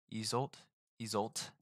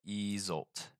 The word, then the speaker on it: Isolde: Isolde. So Isolde. No more is told of him, though a legend says that one day while he was seated playing on his harp to Queen Isolde, King Mark crept up and killed him by